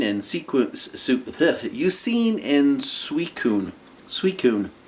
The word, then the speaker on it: Suicune: sequence you seen in suicune suicune sui kun it's spelled s-u-i-c-i-n-e it shouldn't be sweet it should be like sweet sign or suicin or it just makes